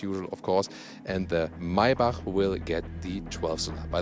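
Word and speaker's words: Maybach: of course and the maibak will get the 12th by the way yeah yeah you say my bach that's the german pronunciation not not my bach this is uh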